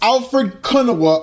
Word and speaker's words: Alfred Konuwa: Having said that, it's pronounced Alfred Kunawa of Pro Wrestling Bits.